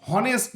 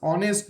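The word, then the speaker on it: honest: Is dash অনেস্ট ম্যান, আমরা কিন্তু কখনোই এটা বলি না যে দিস ইজ হনেস্ট ম্যান, এটা কিন্তু আমরা বলি না। আমরা কি বলি? This is অনেস্ট ম্যান। সো অনেস্টের অনেস্ট উচ্চারণ করতে গিয়ে আমরা কি উচ্চারণ করি? এইসটা উচ্চারণ করি অর মতো।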